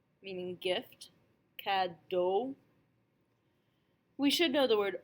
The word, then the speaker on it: cadeau: AU, AUX, EAU, and EAUX are all pronounced O, just like the letter O.